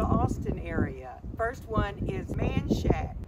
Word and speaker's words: Menchaca: area first one is manshack it's spelled and should be pronounced manchaka named after a man